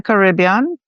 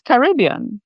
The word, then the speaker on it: Caribbean: But this is, and my truth is Caribbean. But I have heard the pronunciation Caribbean, and that's fine. Okay. But you could tell that anyone who says Caribbean is definitely not from the Caribbean.